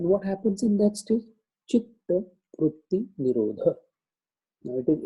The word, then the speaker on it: chitta: So vritti ta and chitta ta both are double. So that's why there is a double T on that. So we should, while pronouncing it, should be chitta.